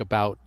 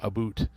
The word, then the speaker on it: about: hockey maple syrup and pronounce certain words uh like about as a boot a boot but nobody in Canada says it as a boot it's about like it's similar but not quite it's an exaggeration yeah